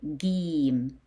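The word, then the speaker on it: ج: Yes, Gim with dot in it it's called Gim. How you pronounce Gim? You pronounce it as G, g, g. G as in good, g.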